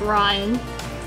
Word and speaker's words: Rain: This is Sailor, and he's holding Ryan. Ryan doesn't really like people, and her name is spelled like rain, but it's pronounced Ryan.